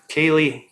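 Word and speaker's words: Kaillie: i've never met her is it cali or how do you pronounce her first name really kaylee humphries so she's she's known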